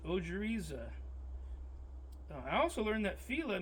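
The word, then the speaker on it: ojeriza: It's ojiza.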